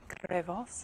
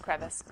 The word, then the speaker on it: crevice: How do you guys pronounce that word? Crevasse? No, it's just crevice.